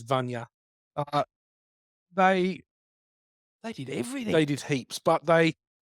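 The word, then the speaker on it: Vajna: I used to say Vagina. Vagina, and I think I'd still It like is to say it's spelled Vagina. it is Vanya.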